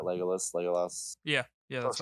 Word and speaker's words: Legolas: Legolas.